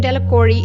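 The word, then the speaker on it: Delacroix: Dickie de la cruzia the villagers pronounce his name delacori eventually made a great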